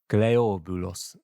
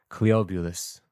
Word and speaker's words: Cleobulus: What's the Greek pronunciation of that? Cleobulus Cleobulus I guess it is correct. Cleobulus Yep, okay, good. Cleobulus.